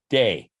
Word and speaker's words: Te: that they called the day also spelled t e but pronounced as though it were d e so the tao and